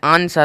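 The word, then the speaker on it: answer: आर का निकला है ए एन एस ई आर लेकिन डब्लू का नहीं निकला है कोई भी उच्चारण देख लो कहीं पर भी डब्लू का उच्चारण है ही नहीं एस डब्लू आरडी शर्ड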